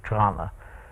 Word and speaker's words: Toronto: to trauma you know which is how I usually say it when I'm not taking special care to Toronto yes to enunciate um there's only one t in her pronunciation and both the vowels are those I think China so